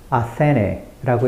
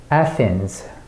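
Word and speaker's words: Athens: 아테네이구나 그럼 대충 굴려서 아테네라고 읽으면 되겠네 하지만이 단어의 실제 발음은 바로 에센스 에센스에요 그리고 우리는 단어의 정확한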